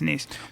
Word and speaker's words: Nice: Is that how you say it? Nice. Yes, Nice.